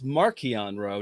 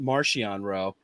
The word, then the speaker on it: Marchion Ro: Thompson and say hey it's marquion row not Marciano row and just just follow